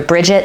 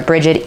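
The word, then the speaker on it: Brigid: some people call her Bridget some people call her Bridget either way is correct but she is in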